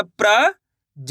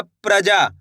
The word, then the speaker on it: प्रजा: प में रन की मात्रा प्र ज की मात्रा ज तो मिलके बन जाएगा प्रजा।